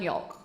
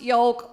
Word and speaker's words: yolk: pronounce the L in yolk. But I doubled down, I'm no pussy. I was like, babe, it's pronounced yolk like folk. He said, no, it's pronounced yolk like choke.